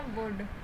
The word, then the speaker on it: would: वुड। तो वुड में क्या होता है? देखिए, वुड बोल रही हूँ लेकिन एल है इसमें साइलेंट, ठीक है।